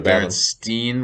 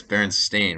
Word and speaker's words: Berenstain: one um so it's is it a berenstein with an e or varence stain with an a is it not berenstein it no it's berenstain with an a you're